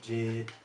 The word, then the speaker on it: JID: Just Earth Gang, Boz, Kaz, Jid, or J.I.D., however you want to pronounce it.